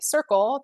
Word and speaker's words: SYRCL: It's pronounced Circle, SYRCL.